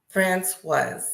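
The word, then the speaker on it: François: Francois is how you pronounce it.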